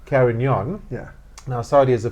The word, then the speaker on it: Carignan: to help me pronounce because I couldn't even pronounce it properly. Carignan. Carignan.